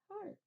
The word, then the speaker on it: heart: listens to your heart heart okay that EA is our heart part because we hear the r but we don't hear the a the e sound right that's write